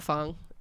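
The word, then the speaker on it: phở: we were at n fong in South Philly and it was delicious it was his first time having a foe or fo it's correctly pronounced F I know I had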